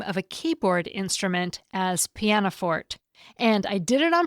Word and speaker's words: pianoforte: A couple of weeks ago, I pronounced the name of a keyboard instrument as Pianoforte, and I did it on purpose after checking multiple dictionaries. I always thought it was pronounced Pianoforte, but I often check pronunciations when it's not